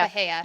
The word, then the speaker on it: Bahia: Bahai? Bahia, Hay? Bahia. Bahia.